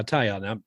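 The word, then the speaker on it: Taillon: How do you say his name, Mark? Correct me. No, that's how I say it. Yeah, Tyon.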